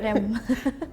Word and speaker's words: rem: Yeah, the Indonesians, like they roll their R really strong. They're like, Yeah, rem. exactly. Like that. Like rem.